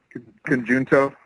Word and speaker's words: Conjunto: think it's a J and it's not a J sound. I don't know. That's just where my brain goes. Conjunto.